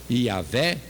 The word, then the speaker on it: Iavé: Na pronúncia Jeová ou Iavé, ou qualquer outra pronúncia segundo uma língua qualquer, é o que estavam querendo dizer.